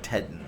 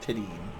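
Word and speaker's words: Tedin: to 's name incorrectly everybody seems to think it's Mark tedan and uh they would be wrong it's Mark teden so Mark tadine after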